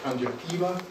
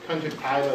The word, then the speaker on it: conjunctiva: I learned this from was Belgian he always pronounced it conjunctiva but conjunct conjuntiva is really the correct pronunciation as I know